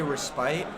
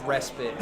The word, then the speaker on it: respite: Oh, the Brits say respite. It's respite. Fuck that.